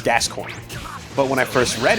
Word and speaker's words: Gascoigne: And in English, you pronounce it Gascoigne. And later on in the game, they actually say the words, right? Yeah. So like there's no ambiguousness to it. It's Gascoigne.